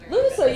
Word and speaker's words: Lughnasadh: similarities between I don't even know if I'm pronouncing it correctly, but Lughnasadh. Lughnasadh, yeah.